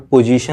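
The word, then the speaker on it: position: मैंने अभी इसको बताया TION का उच्चारण सन से होता है, ताकि जहाँ कहीं भी आपको ये वर्ड मिले, एक्शन, कंपटीशन, इलेक्शन, ठीक, ऐसे बहुत सारे वर्ड, पोजीशन ले लीजिए आप लोग, पोजीशन, ठीक।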